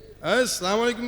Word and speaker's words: আসসালামু আলাইকুম: আছে ঠিক আছে কেমনে আসসালামু আলাইকুম কি আবার উচ্চারণ করেন আমার সাথে আসসালামু আসসালামু শুরুর হামজা আর শেষের মিম আসসালামু আলাইকুম আসসালামু আলাইকুম